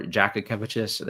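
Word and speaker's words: Jakučionis: thing for them um kasparis Jak kiches or however Jacka kiches apparently it's a jack sound at the beginning now for Illinois like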